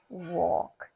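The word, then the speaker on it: walk: डब् ए एल के वॉक एल यहां silent है देम टी एच ई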